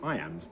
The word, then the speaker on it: iamb: and kill the envious moon notice how the iambs cut across both punctuation and word separation meter